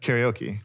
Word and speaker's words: karaoke: You know how karaoke is pronounced in Japanese? No, I think I've heard it. Karaoke. Because Funny. it's Japanese. Oh. Karaoke.